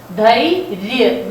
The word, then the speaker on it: धैर्य: Dhairya, this is pronounced as ra, this curve is pronounced as ra।